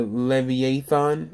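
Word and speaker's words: Leviathan: it was talking about the levy a thon I think it's pronounced and it's basically like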